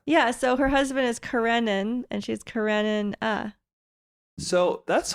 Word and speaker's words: Karenina: way you say Anna Kar no it's not Kar it's Karenina you're Ming Karina Anna Karina yeah so her husband is karenin and she's karenin uh so